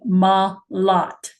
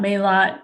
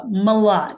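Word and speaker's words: Malott: Um, last name Malot, not Mot, not Malo. Uh, Malot. It's easy to pronounce. It's just like the word a lot, but you put an M in front of it.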